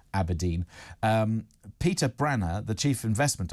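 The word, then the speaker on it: abrdn: So it's A-B-R-D-N, pronounced apparently Aberdeen.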